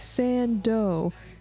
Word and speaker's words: Sando: the name's Sando. Accent on the dough.